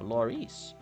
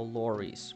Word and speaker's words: Laurice: So wait, so Laurice rhymes with Maurice, and Maurice, Murray is short for Maurice, so I guess Laurice could also be known as Luray.